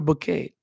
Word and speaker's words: bouquet: So you show people that beautiful flower bouquet.